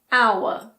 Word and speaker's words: hour: There are also a few words that start with a silent H. For example, air, honest, honor, hour.